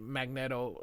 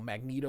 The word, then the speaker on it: Magneto: And you can see Magneetto uh smiling a little bit. The reason I say Magneetto is because it's Magnet with an O. Magneto would be M A G NE T O.